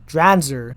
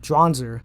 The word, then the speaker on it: Dranzer: Oh, I'm sorry, it's pronounced Dranzer, not Dranzer.